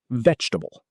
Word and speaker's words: vegetable: Vegetable. Vegetable. Sounds like vegetable. 3 syllables, not 4. The middle E is silent, not VEJ-ta-ble.